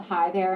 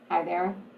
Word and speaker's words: High There: dating app dating app is called hi there and it's spelled h-i-g-h hi there come on that's clever